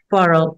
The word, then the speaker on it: Quarrel: so that's di Nathan how does he pronounce it quarrel like the word or quarrel Nathan quarrel yeah quarrel so tell us about